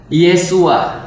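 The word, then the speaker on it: ישוע: Yesus itu bahasa Ibra bahasa ibraninya adalah yesua yesua jadi isuwa itu ya kalau dalam bahasa aramaik bahasa Arab itu bacanya isu jadi sama ya Ada ada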